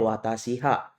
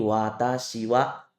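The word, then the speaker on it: 私は: kecil di sini tulisan ini itu bukan dibaca ha ya teman-teman ya ini dibacanya wa ketika menjadi partikel Jadi teman-teman bukan membacanya watasiha tapi watasiwa nah kemudian di sini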